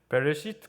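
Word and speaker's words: בְּרֵאשִׁית: 베레시트 바라 엘로힘 이렇게 읽는데요. 바라 이렇게 되죠. 이 베레시트라는 게 창세기입니다. 성경에 가장 먼저 나와 있는 단어가 베레시트인데 우리는 창세기로 읽지만 이스라엘 사람들은 베레시트라고 읽습니다.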